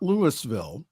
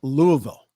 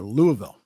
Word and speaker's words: Louisville: Louisville shooting it's not Lewisville it's Louisville got to pronounce it all together Louisville the family of the